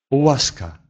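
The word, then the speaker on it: łaska: Полугласный «у» произносится не совсем так, как в английском «у», совсем закрыто, а губы чуть-чуть расширены. «О», «о». Они не смыкаются полностью, как в английском языке.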